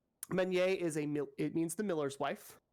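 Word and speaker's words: meunière: It is a French word, which means that I am pronouncing all the letters way too much and not enough simultaneously somehow. Meuniere it means the miller's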